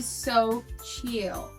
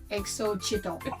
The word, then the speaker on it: Xochitl: It's definitely So Chill.